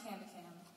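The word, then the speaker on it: qaimaqam: Q-A-I-M-A-Q-A-M Kamakam.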